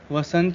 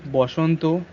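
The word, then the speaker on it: বসন্ত: So Bhishma Bhisho, Lakshmi Lokhi, Akshay Akshay, Vasant Boshanto, Vivekanand Vivekanando. And also the main thing is that we don't use retroflex in our conversation.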